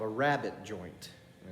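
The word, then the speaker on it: rabbet: that is called a rabbit joint and it's not spelled like the bunny rabbit it's spelled r-a-b-b-e-t so we're going to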